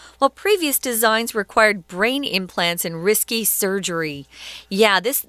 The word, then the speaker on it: implant: mention to the listeners the verb is to implant and the strong syllable is on the second syllable implants something but the noun is implant very good okay so